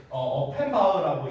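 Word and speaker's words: Offenbach: 그래서 여기 처음에 이게 영어식으로 읽으면요, 자크스 어펜바츠라고 읽을 텐데 이제 이게 어펜바흐라고 이제 읽는답니다.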